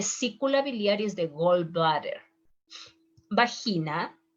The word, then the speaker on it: vagina: biliary is the gallbladder bahina is not vagina is bahina berlugas berrugas is a